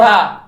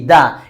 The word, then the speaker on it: the: দা উচ্চারণ হবে এবং কখন দি উচ্চারণ হবে এটা একটু ক্লিয়ার হই আমরা ওকে যখন আপনারা কোন শব্দের শুরুতে consonant sound and consonant letter পাবেন তখন এটাকে দা বলবেন কি বলবেন দা কি বলবেন দা আবার বলেন দা এখানে ধরেন